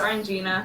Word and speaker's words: Orangina: it Orangina yeah it's Orangina it is actually pronounced Orangina because frankly orina just sounds it does sound